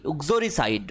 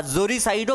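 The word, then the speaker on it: uxoricide: উক্সো, UXORICID, উক্সোরিসাইড বা জোরিসাইডও বলা হয়। আমেরিকানরা প্রোনাউন্স করে উক্সোরিসাইড আর ব্রিটিশরা জোরিসাইড।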